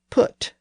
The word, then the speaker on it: put: And the word put was an Old English word that had originally been spelled P-Y-T and had been pronounced with that rounded E sound. But since that roundness had disappeared in the north and east, the word was spelled with an I to indicate that the northern pronunciation was pit. Our modern pronunciation of the word is put, and the spelling P-U-T